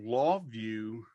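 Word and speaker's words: LawVu: pretty well yeah so so law view and it's spelled vu right so is it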